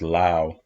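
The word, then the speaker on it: Laos: heard never been to Lao uh and it's pronounced Lao not La so even in English if it's supposed to be but they say Lao so I just say Lao Lao is better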